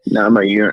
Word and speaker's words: Namajunas: Do you pronounce it? Namajunas.